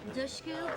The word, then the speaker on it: Dushku: Dushku, pronounced like push, dush, tush, cuz you're the mule.